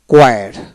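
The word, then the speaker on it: choir: তারপর আসেন character, character, K সি এ কে আর এ C, correct, T ই R, corrector, এই উচ্চারণ হবে না। তারপর আসেন কোয়ার, কোয়ার, সি এইচ সি ইউ আই আর, কোয়ার, এইভাবে উচ্চারণ হবে।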